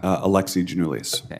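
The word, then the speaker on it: Alexi Giannoulias: do you say your name Sir Alex uh Alexi genoulis Alexis I want to see if I got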